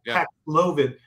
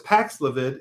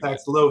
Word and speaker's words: Paxlovid: But let's go over a little primer on Paxlovid, which I thought was Paxlovid until we did a piece and the company said it's Paxlovid. Okay, Paxlovid. Okay. Anyway, emphasis whatever. On the second syllable. Okay, very Paxlovid.